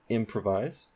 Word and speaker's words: improvise: there improvise improvise improvise the main stress is at the beginning of the word for m on that syllable improvise um you might be